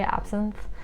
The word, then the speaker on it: absinthe: uh something else i was getting towards was moulin rouge you know when they're drinking the absinthe is how you say absinthe and the fairy comes out and they can